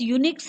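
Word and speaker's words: Unix: So students, यूनिक्स है, यूनिक्स को योनिक्स से प्रोनाउंस किया जाता है और ये बहुत ही multi user multitasking operating system है, बहुत ही लोकप्रिय है।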